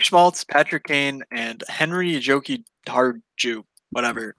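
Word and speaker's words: Jokiharju: I don't know, but Nick Schmaltz, Patrick Kane, and Henry Joki Harju. Whatever. Joki Haru, I feel like is how you say it, but there's a J there, and I feel weird not saying it.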